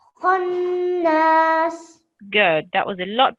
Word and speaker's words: خناس: So we have a nice rounded mouth and it's a strong sound. Khonnas. Khannas.